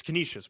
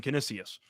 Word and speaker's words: Canisius: Well, I'm saying it incorrectly. It's Canisius, but I'm saying Canisius.